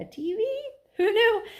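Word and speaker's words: Teavee: I'm just realizing this, but you see how his name is spelled? T-E-A-V-E-E, but it sounds like TV. And what do we call a television for short? A TV? Who knew?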